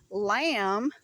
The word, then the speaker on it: lamb: So, when you do the word lamb, okay, we know the B is silent, but you have the L A M.